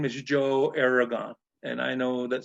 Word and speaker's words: Aragon: and I know that sometimes some of those people that are Spanish descent, they say, well, Joe, you're mispronouncing your last name. You're supposed to say it Aragon. And I said, well, that was given to us by the Spanish way back in the 1500s.